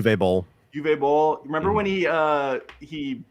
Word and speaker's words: Uwe Boll: Is it U-Bowl or Uwe Boll? Yeah, Uwe Boll.